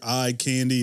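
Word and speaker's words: I Kandi: play on words there I candy it's spelled i k in the eye but it's not ranji for sure it's more like hey check out that eye candy so great tree going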